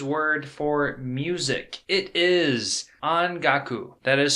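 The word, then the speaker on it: ongaku: is the japanese word for music it is on gaku that is spelt o-n-g-a-k-u on gaku and that is japanese word for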